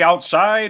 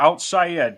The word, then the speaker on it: OutSci'Ed: saying it right Todd it's outside Ed I would say outside or outside Ed because either way it reflects my personality awesome I love it